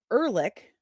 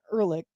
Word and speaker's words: Ehrlich: This Jessica Ehrlich, I said her name wrong, Ehrlich, pardon me, is a moron or a commie, like, or both.